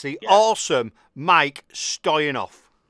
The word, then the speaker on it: Stoyanov: It's been about three years and it's the awesome Mike Stoyenoff. Hello. Very, you pronounce my name just perfect, mate.